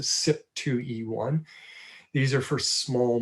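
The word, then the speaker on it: CYP: And one particular subtype, the SIP, people that are working in this area pronounce that acronym. So it's a SIP 2E1.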